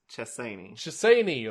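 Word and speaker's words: Chessene: shissaini trusani shissaini shersani it's spelled chasing so that's why i keep wanting to read it as it's spelled but it's chessini of the franzine greg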